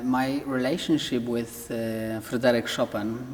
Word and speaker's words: Chopin: relationship with uh Frederic shopen because that's how we pronounce his name in Poland is very very deep